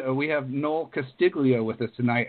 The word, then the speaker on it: Castiglia: We have Noel Castiglia with us tonight. How are you doing tonight, Noel? Well, I'm doing fine, Casey, but you know, us Castillias call it Castiglia, so the G is silent.